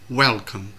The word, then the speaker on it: welcome: Ví dụ như từ welcome thì trọng âm rơi vào âm tiết thứ nhất, welcome, welcome.